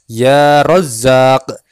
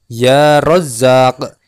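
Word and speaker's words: يا رزاق: Yang Maha Pemberi rezeki cara membacanya sama awali dengan menggunakan huruf Nida Iya menjadi ya Rozak ya Rozak ya Rozak kalau keduanya digabung maka menjadi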